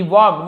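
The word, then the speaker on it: walked: व्हेनएवर जब कभी भी ही वॉक्ड वो चलता था, जाता था। एल यहां पे साइलेंट है। एल को हम यहां पे नहीं पढ़ेंगे। थ्रू यानी मे से द विलेज।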